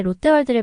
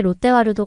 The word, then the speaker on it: 롯데월드: 얼핏 들리는 단어가 있는데 롯데월드를 말하는 것 같았습니다 아마 제가 한국에 있는 동안 롯데월드를 가보기는 했냐는 뜻으로 물었을 것 같아요 저는 다야 에게 롯데 와루도 아니고 롯데 월드라고 분명하게 말해줬죠 그러고는 하필이면 받침 발음도